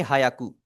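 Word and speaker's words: 百: तो करना आपने ये है, आपने इसे हायाकू बिल्कुल भी नहीं बोलना, ठीक है। बिल्कुल आपने इसे नहीं बोलना, प्रोनाउंसिएशन आपने शुरू से ही इसे परफेक्ट रखनी है। आप इसे प्रोनाउंस करेंगे जिस तरह ये लिखा हुआ है, ह्याकू। शुरू में एच की आवाज, एच के बाद थोड़ी सी ई की आवाज, ई के बाद आपने पढ़ना है आकू, ही आकू, ह्याकू, सर ठीक है।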